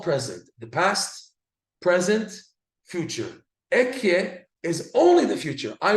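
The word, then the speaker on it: אהיה: We pronounce it Ekyeh, right? Or in the Pasuk version, Eyeh, Asher Eyeh.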